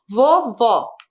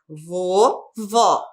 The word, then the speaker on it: vovó: Vovó. Vovó. A sílaba mais forte, vó.